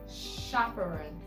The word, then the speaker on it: chaperone: And then we have chaperone. Chaperone. Shh. CH sounding shh.